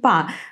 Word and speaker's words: по: So we actually write о, but because it's a preposition, it is not very important, and so we do not pronounce it in a very clear way, so it becomes по городу.